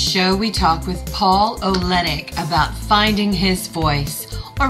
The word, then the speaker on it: Oleynick: Hey everybody, I am here with Paul Oleynick. You got it. I got it. Yay! You got it. You just don't have to pronounce the Y. It's pretty simple.